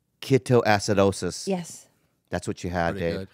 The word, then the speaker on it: ketoacidosis: to pronounce this word keto keto acid acid osis ketoacidosis yes that's what you